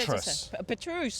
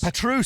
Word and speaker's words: Petrus: Petruse. Petruse. Sorry. You can tell how much of an outsider I am that I I pronounced it Petrus.